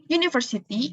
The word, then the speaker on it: university: Di sini kita memakai karena university itu kita membacanya university. Jadi depannya kayak huruf Y gitu kan, university.